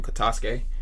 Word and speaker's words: Katasuke: Do you think that Katasuke, that's how you say his name, Katasuke, he going to like Yeah.